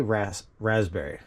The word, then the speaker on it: raspberry: Does anybody ever pronounce the P? Do you say raspberry or raspberry? I say raspberry, as if there's 2 Z's, but it's totally rasp.